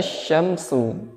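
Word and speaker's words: الشمس: Idza syamsu, huruf shin kemudian huruf sin. Bedakan bunyinya, bedakan pelafalannya, jangan sampai disamakan.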